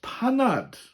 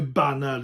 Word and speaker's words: Panad: Next one is Panad. Panad meaning cuppa. You'll hear Banad in the mutated form as well.